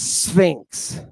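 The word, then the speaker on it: Σφίγξ: That is pronounced sphinx. Right? Not sphinx. Sphinx.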